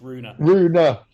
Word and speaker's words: Rune: on the pronunciation George it's rooner Rooney I'm sorry but yeah